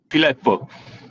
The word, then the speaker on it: Fileppo: And Guido, you're going to have to say your last name for me because I can't pronounce it. Filpo. Filipo.